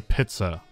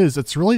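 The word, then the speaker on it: пицца: вы когда-нибудь слышали, чтобы кто-то местный говорил «питца»? Я предположу, что нет, ведь игра немецкая. Просто, так коверкают лишь это слово. Режиссёр озвучки должен был настаивать на «питце».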